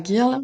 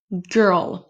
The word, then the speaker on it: girl: On dit pas girl mais girl. Et vous voyez que c'est de nouveau le même son. Même si dans un on a un o, dans l'autre on a un i.